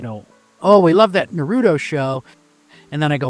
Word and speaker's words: Naruto: So he calls it Naruto. You know, he kind of rolls that R. Naruto.